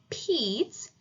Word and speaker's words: Pete: So we say Pete. It makes the long E sound because that bossy E at the end is bossing him around. It's telling him to say his name.